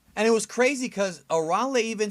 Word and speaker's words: Arale: Not to mention that right from the beginning, the narrator pronounced her name as Arale, not Arale, which is the correct way to say her name.